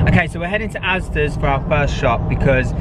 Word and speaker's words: Asda: Dad, why are you saying Asda's? Is that what I say? Asda's?